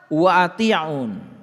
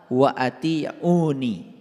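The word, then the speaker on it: وأطيعون: lihat ayat ini fattaqulaha Wa atiun nah ini sebetulnya dibacanya harusnya fattaqulaha wa atiuni dibacanya harusnya begitu fattaqulaha wa atiuni bertakwalah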